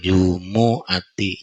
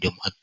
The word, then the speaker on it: jumu'ati: aku ba'da setelah sholatil jumu'ati. Ini bacanya jumu'ati ya, bukan Jumat. Jumu'ati.